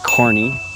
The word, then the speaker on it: Kearney: the history of Kearney again it's pronounced corny um like the you know Circus Circus person if you don't know